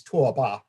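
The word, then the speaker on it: 拓跋: you prefer, was governed by the Tabgach, pronounced in Chinese Tuoba.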